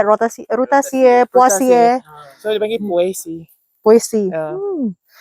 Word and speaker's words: Poaceae: Yes, over here we say Rutaceae, Poaceae, So dia panggil Poaceae. Poaceae. That's a new one for me. Europe punya pronunciation good.